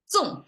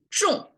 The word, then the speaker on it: 众: 纵, okay, I pronounce it in English, 纵. Okay, it's 众, okay, that's 众 versus 纵. It's different. Okay. 众, we have this H sound, that means curl your tongue, right?